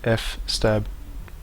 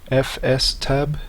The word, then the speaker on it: fstab: mount command and the fstab file a quick note is that FS tab would be the correct pronunciation as this is the file system table however it is commonly